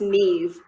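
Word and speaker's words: Niamh: let me see like there's one name spelled like n a i m h and it's pronounced knees australian names don't make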